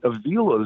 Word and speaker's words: Avila: But my guess is that Avila is the one, or Avila, as he actually pronounces it.